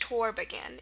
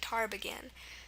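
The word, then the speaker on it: тарбаган: there but taragan here the a sound is spelled with an a if we were to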